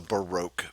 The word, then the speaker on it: Baroque: So, what are the dates of the Baroque period? And it is pronounced Baroque.